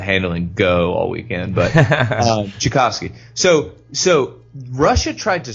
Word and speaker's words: Tchaikovsky: that the answer the fairy Plum fairies Oh chick offski Tchaikovsky sorry offski I'm sorry my brain is a as much after the handling go all weekend but Tchaikovsky so so Russia tried to scrub that this